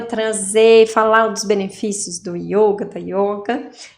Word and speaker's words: yoga: yoga é em sânscrito essa pronúncia com o o fechado é yoga e escreve com Y